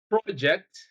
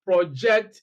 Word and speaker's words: project: Consider the word project. When we use it as a noun, it means a piece of work undertaken. But if we pronounce the word as project, we use it as a verb, which means to communicate clearly.